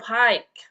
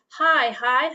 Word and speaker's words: high: The word is high school instead of hike. Okay. It's high like that's when you say hi to somebody.